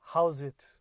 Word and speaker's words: Howzit: So that greeting is called "How's it?" I'm going to say that again. How's it? It's spelled HOWZIT or ZAT.